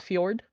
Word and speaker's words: fjord: That one I do know is pronounced fjord, so we got one.